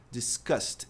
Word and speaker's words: discussed: A pronúncia do passado discutir. Discussed. Esse n é pronunciado. E o D tem som de T.